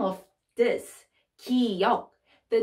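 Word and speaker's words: 기역: about so this is kiyok and how to pronounce it it's it's the sound from in the neck good good good okay it's uh it's the middle of the good and k so g and k so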